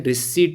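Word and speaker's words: receipt: और एक देखिए राजस्व रिसिप्ट होती है, वैसे इन्हें रिसीट बोला जाता है, पी साइलेंट है, रेवेन्यू रिसीट और कैपिटल रिसीट।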